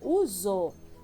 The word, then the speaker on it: uso: Até a palavra uso tem esse som, né, de Z, mas se escreve com S, né?